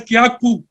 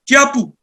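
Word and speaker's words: Kyaukpyu: y a k p y u most people pronounce it as Kaku but it's not that it is kapu kapu very Snappy so it's interesting to learn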